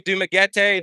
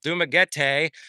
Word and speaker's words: Dumaguete: Uh basically Dumaguete the majority of the time and then another uh 4 months in Bacolod and you know the story with that.